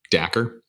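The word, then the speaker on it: Dacre: How'd you pronounce his name? Dacker?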